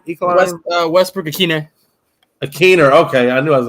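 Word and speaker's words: Ikhine: The other one was to the other guy, Ekeline. Is that how you say his last name? Ekeline? Westbrook Akiner. Akiner.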